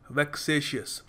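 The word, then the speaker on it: vexatious: देखिए अगला शब्द है वेक सेशि प्रोनाउंस जैसे कर रहा हूं ध्यान देना वेक सेशि अस वेक्स शियस यह शब्द आता है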